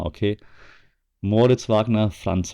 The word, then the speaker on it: Wagner: So, Wagner boys Shaq It It's called It's pronounced Wagner, okay? Moritz Wagner, Franz Wagner, okay?